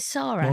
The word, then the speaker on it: Sara: Is Sarah or is it Sarah? No, it's definitely Sarah. Yeah, but it's spelled Sara.